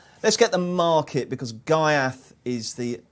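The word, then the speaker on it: Ghaiyyath: get the market because gaiath is the am i pronouncing gaiath right there by the way enzo i think we had somebody explain the proper arabic pronunciation sort of hereth or something but i don't think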